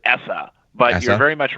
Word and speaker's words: ESSA: is that well so everybody in Washington calls it essa but very much right that the No Child Left Behind era is over and now we're on the essa era okay so that